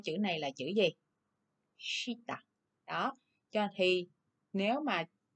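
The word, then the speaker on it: 下: Thì cách đọc đúng của chữ này là chữ gì? Shita.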